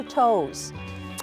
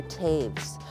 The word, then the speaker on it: Toews: special guest this week his name is toes and some people pronounce at Taves but he is a gospel country singer and